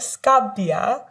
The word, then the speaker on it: Scabbia: I'm working on it I know there's that double b there in Italian and that can be a little daunting sometimes and then you think